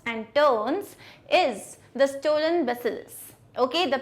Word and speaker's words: bacillus: lot of twists and turns is The Stolen Bacillus. Okay, the pronunciation is bacillus.